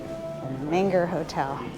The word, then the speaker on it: Menger Hotel: How do you pronounce the hotel? Menger. Menger. Yes. Okay. Thank you. All right, it's Menger. Menger Hotel.